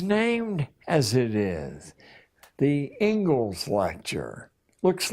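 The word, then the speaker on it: Inglis: in education is named as it is the Engles lecture looks like English but it's pronounced Engles and I would like to read you the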